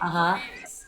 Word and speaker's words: emails: Check emails. Check emails. Okay. So, we have check and emails. Emails. Emails. So, the stress here is the first syllable.